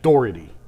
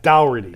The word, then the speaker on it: Doherty: you walk through a dower or a door? The door. Okay, so it's Brad Doherty, not Dougherty.